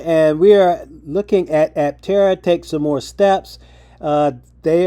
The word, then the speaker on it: Aptera: this is Steven Fambro, Aptera's co-CEO. Steven, thanks for coming on. And do I have the name of that Is it Aptera? Is that how you say it? You got it right.